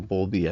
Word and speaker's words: Bowlby: So Bowlby obviously has a W. If you took the note based on how I said in the last slide, you'd spell it wrong, and that's my fault.